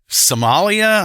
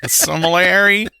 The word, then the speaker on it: sommelier: Sommelier, yeah, that's the word my wife can never pronounce correctly. Somalia? I've been to Somalia. Sommelier.